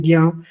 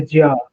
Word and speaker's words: ज्ञ: मार दो, क्योंकि आप हम लोग अब यही बोलते हैं ज्ञ, लेकिन असल में वो रियल में वो कैसा प्रोनाउंस है, जैसे ज्या, इस तरह से उसको बोला जाता है।